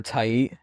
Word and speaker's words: Tait: So I actually did not know because we've been saying Tate for so long. It's Yeah. pronounced Tait, Tight. but now we know that it's Tait instead of Tate.